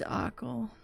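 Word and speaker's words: Achill: It's Ackle.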